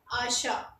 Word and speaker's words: achat: उसके बाद होता है हमारा टी, तो टी को हम देखेंगे ACHAT, लास्ट में हमारा टी आया, लेकिन हम इसे भी प्रोनाउंस नहीं करेंगे, इसे हम क्या पढ़ेंगे, आशा।